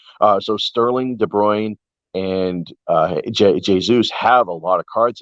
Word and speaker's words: Jesus: But Kevin De Bruyne, Raheem Sterling, Gabriel Jesus, it's actually pronounced Jesus, I believe.